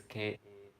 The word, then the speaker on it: kasiṇa: So Kasina is Kasina. Not, it sounds like CA, but it's KASINA. Is how it's spelled.